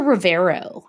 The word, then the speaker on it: Rivero: I have a hard time going from to then the R. Rivero. Rivero.